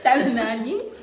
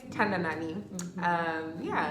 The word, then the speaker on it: Tandanani: I have the beautiful Tandanani. Hi guys. Say your name out loud too, because I feel like I'm pronouncing it right too. It is right. It is right. Hi guys, my name is Tandanani.